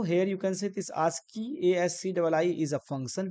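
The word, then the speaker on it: ASCII: now next two is ask as c i this is known as like we can Pro pronounce asky and full form is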